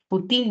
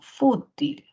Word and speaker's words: fútil: ya luego dice acá la palabra fútil No futil no es no sino fútil Qué quiere decir algo